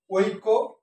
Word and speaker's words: ঐক্য: বৃদ আবৃত্তি এবার আসি ঐক্য মত সঠিক উচ্চার হচ্ছে ঐ ও রস ঐ এটা ভাঙ্গালে যেটা পাওয়া যায় ওই ক ঐক্য ঐক্য কি হবে